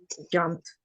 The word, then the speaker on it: jumped: jumped is jump no remember jumped jumped okay jumped like help helped like stop stopped okay okay we remember